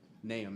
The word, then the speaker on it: Nahum: There's a lot of pronunciations of it. Nahum is the correct way.